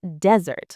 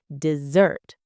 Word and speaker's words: dessert: Be careful. Not desert like the hot sand in camels. It is dessert. Stress the second part.